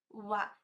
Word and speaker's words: は: no lugar das tículas e não falo ra sim a pronúncia ali naquele momento ele vai ser u ua tem vários vídeos aqui